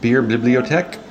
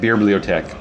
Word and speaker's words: Beerbliotek: beer tonight is from beer bibliothèque bibliothèque beer biotech I've been saying it wrong all these years beer BlueTEC out of Gothenburg